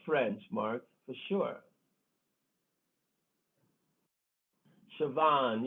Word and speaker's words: Siobhan: french mark for sure siobhan yeah this is that is the way it sounds uh oh jenny that's not how it's spelled though none of those names are the way pronounced the way they spelled okay i think we